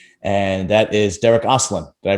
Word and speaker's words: Derik Oslan: to be a household name and that is derek aslan did i pronounce that right yes you did thank you